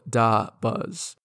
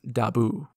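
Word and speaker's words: dabus: Pain by the way I'm getting my pronunciation from this Rebus which shows a DOT minus a t plus three Z's which I guess is supposed to be Buzz so da buzz and there's also this Rebus that shows it's definitely not pronounced daoo and these rebuses are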